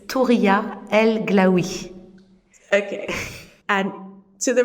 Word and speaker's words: Touria: But I had a French mother, so she didn't know how to pronounce this in Arabic, so it became Touria, and this is how at home I'm called, Oh, wow.